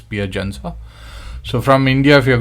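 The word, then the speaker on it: Piacenza: piagensa pc italy okay so that's how it's pronounced uh pia chanel jensa uh okay it's not ph sensor okay it's pier jensa so from india if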